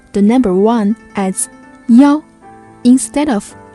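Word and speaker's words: 幺: In real life context, you may hear some Chinese people pronounce the number one as ya instead of e, especially in a phone number.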